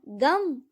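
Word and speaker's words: गं: गण के प्रथम शब्दांश ग का उच्चारण करने के बाद वर्णों के आदि अर्थात अ उच्चारण करें। उसके बाद अनुस्वार अर्थात म का उच्चारण करें। इसके बाद इसे अर्ध चंद्र से सुशोभित करें।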